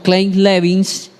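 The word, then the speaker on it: Kleine-Levin: conoció un síndrome que en inglés se pronuncia como clin levins Pero se conoce entre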